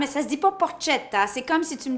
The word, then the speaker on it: porchetta: coup en cuisine de la porchetta connaissez-vous la porte kate ça s'écrit pour chattam et ça se dit pour porte shehata c'est comme si tu me disais moi avec